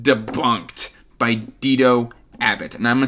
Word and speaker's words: Dito: And of course, I am talking about Terravinium Chronicles, Book 1, Debunked, by Dido Abbott. And I'm saying Dido because he says it rhymes with Cheeto, so I'm going to go with Dido Abbott.